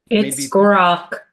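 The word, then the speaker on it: Grok: Uh, I believe it's pronounced is it gro for those of you that uh Grock Grock more familiar with this one than I am?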